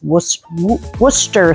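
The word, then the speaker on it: Worcestershire: I heard somebody say he was from England and that's how you pronounce it is worester sauce. So worcershure.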